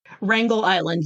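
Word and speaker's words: Wrangel Island: to 170 miles east of is it usually pronounced Wrangler Island? Wrangle Island.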